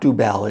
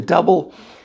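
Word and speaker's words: Dubbel: with a double and it is not dubel it's double d-u-b-b-e-l that's how you pronounce it properly um you know so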